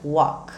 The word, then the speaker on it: walk: verbo caminhar verbo andar ele se escreve com L mas a pronúncia fica Walk tem gente que ainda